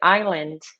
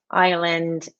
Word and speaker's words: island: Bom, eu estava falando de island, da pronúncia. Então, por exemplo, so for example, island, excuse me, sorry guys.